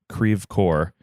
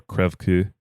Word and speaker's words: Creve Coeur: is that there is an area called Creve Coeur, which is certainly not how you would pronounce the word pronounce, but certainly not how you would pronounce a French city, which I believe it should be like more Creve Coeur or something.